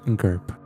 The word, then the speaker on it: GYRP: The GYRP, everyone pronounced it "Gurp", was like an 8-hour